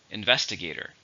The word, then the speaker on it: investigator: it's a countable noun it has five syllables stress in a second investigator the investigator looked